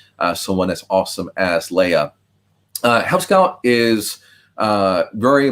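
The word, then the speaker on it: Leah: lucky to work with leia nobler uh leia's first name is spelled l-e-a-h but pronounced like the princess um if leia is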